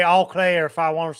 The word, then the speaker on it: Eau Claire: They pronounce it as Eau Claire. I don't like it. That's what I'm saying. I don't like it. Right. This is my town. Right. And I'll say all Claire if I want to say all Claire, all right?